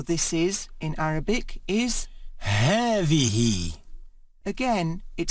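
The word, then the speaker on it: هذه: feminine word for this is in Arabic is heavy again it sounds as if there is a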